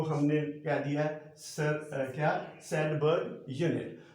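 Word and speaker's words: Svedberg: S का मतलब है सैडबर्ग यूनिट, वी नहीं प्रोनाउंस करना, इसलिए मैंने कहा सैडबर्ग यूनिट, ठीक है।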